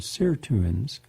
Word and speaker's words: sirtuins: can mimic estrogen to activate anti-aging proteins called sirtuins, S-I-R-T-U-I-N-S, and that can help slow down the aging process.